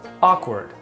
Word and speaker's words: awkward: This word is pronounced as awkward.